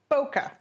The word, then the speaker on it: Bokeh: Bokeh. Just Bokeh. Plain old Bokeh. Like the Florida town.